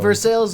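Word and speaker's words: Versailles: small town newspapers in versales Missouri you're you're gonna hate when I how I pronounce that yeah looks like vers vers yeah they say it for sales and that's how it's pronounced that's for sure and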